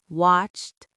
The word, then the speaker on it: watched: cooked, watched, laughed, they all have that sharp sound at the end.